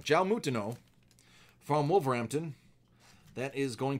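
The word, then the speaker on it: João Moutinho: Jao Mutin, I almost said it wrong. Jao Mutino from Wolverhampton.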